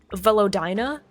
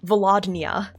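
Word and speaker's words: Velodyna: like the one location velina right so it's spelled v e l o d y n a right I keep keep on Switching the n and the Y so I read it as vadia yeah I read it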